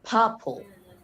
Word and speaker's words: purple: When a noun or adjective is contain like contains two syllables, the first one is usually the stress one. So purple p this is the uh syllables one, the stressed one.